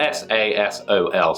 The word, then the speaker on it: Sasol: Well, that's spelled S-A-S-O-L, so Sasol.